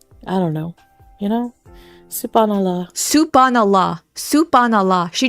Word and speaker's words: Subhan Allah: You guys You guys, that was probably the worst pronunciation I've ever heard. Soup. Thinking about food. Soup on. That's literally what she said. Soup on Allah. What is this that you're saying? Subhan Allah.